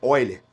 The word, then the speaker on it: Euler: O nome dele é Oiler, se escreve Euler, né? Alguns chamam, algum professor, talvez se eu já chamou ele de Oiler, outro chamou de Euler.